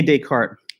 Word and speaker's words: Descartes: name because he's s this s is like silent in both cases descartes it's not really